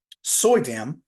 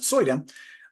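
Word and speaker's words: Suydam: zombie and the artist that does this Arthur soyam that's how you pronounce it soyam um he is famous for these covers and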